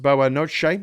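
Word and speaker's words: boa noite: Whiplash says Ian uh boa Notte uh Graham good night Portuguese pronounced boa Noche no shit yeah because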